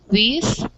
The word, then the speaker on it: this: going to be important because this has a short i sound and these has more of a long eye sound yeah okay very good